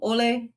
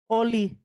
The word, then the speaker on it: Oie: Chair, I'd like to make the motion that monthly we'll do the PU um Ole and pledge of allegiance. Sorry, her pronunciation. Oie. Joe Oie, not Ole.